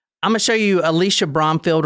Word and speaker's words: Alisha: I keep calling her Alicia. I'm sorry. It's Alisha, actually.